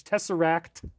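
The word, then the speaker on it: tesseract: Uh, Tessorak. Yes, I pronounce it a little bit southern. It's Tessarak, but you know, I like to flatten my TE's.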